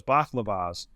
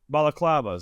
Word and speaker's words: balaclavas: I thought it was always baklavas. Is that my saying that correctly? Balaclavas. That was it.